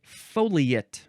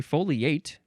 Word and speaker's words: foliate: It's going to be Next is foliate. Foliate. Um, you could also say folate if you want.